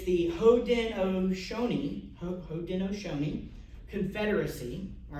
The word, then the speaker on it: Haudenosaunee: I wrote down how to pronounce it. It's the Haudenosaunee Confederacy, all right, which is a six-nation Iroquois